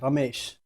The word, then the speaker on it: Ramesh: If you want to say it like actual way, it's like Ramesh. You have to like roll the R and you Whoa.